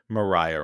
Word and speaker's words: Maria: And Hamilton never admitted to them that James Reynolds was extorting him as a result of his affair with Mariah Reynolds or actually probably pronounced Maria.